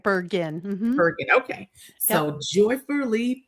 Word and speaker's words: Bergen: Bergin.